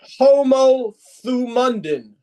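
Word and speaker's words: ὁμοθυμαδόν: It's a Greek word pronounced homothumundin.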